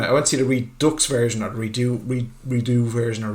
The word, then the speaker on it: Redux: Yeah, but you can't pronounce R-E-D-U-X as redo or redo. I don't know, maybe you can't. It's Redux. It gives a shit. Let's just go. Fox isn't pronounced faux, so we're going with Redux.